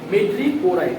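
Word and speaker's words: madreporite: মেড্রিপোরাইড, উচ্চারণটা কি বললাম?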